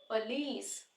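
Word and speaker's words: police: से देखना है क्योंकि यहां पे हम बोलते हुए साउंड उ का यूज करते हैं लेकिन यहां पे उ साउंड का यूज नहीं होगा यहां पे यूज होगा साउंड का पलिस यहां पे पलिस जो यहां प स्वर साउंड का यूज हो रहा है स्वर साउंड जो कि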